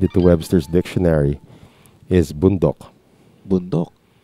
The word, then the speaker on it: bundok: Talaga, yung bundok. Yeah, you look it up So- in Webster's dictionary. They spell it Boondok. Boondock.